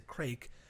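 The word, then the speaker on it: craic: explained to me that crack which is spelt c-r-a-i-c crack it's a crake is an expression that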